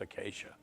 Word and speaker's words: Achaia: It's actually Achaia, but it's pronounced Acacia.